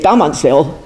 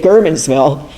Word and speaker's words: Germansville: And that's because we Pennsylvania Germans say, when they used to say Gummansville, they didn't say Germansville.